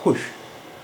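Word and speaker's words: خوش: लेकिन अब ये ईरान में भी खुश ही बोला जाता है, वाह साइलेंट है, और यहाँ उर्दू में भी वाह साइलेंट है।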